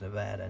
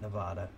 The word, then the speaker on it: Nevada: cool down through Utah Nevada and yes it's pronounced Nevada not Nevada California dropped down went through Arizona New Mexico